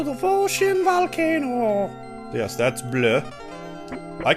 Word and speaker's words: Bleu: owned egg into the ocean volcano yes that's blue i call her blue and i will continue